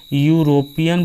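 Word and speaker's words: European: से स्टार्ट हो लेकिन जो उसका प्रोनाउंसिएशन अगर कॉन्सोनेंट आ रहा है तो इसको हम ऐसे पढ़ते हैं ना, यूरोपियन बोलते हैं इसको।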